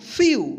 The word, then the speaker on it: few: हम क्लियर करते हैं, FEW क्या होगा? फ्यू। क्या पढ़ेंगे इसको? फ्यू। ध्यान रखिएगा कि जब किसी वर्ड का अंत जो है ना EW से हो तो इसका उच्चारण EU होगा।